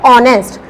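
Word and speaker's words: honest: ऑनेस्ट अभी हमने पढ़ा था, ये वर्ड, इसका प्रोनाउंसिएशन क्या है, ऑनेस्ट। एच साइलेंट है, इसलिए इससे क्या यूज करेंगे हम, एन।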